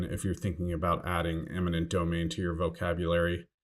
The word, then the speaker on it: eminent domain: One other note of caution, if you're thinking about adding eminent domain to your vocabulary, make sure to avoid the common mistake of pronouncing or writing it as imminent domain.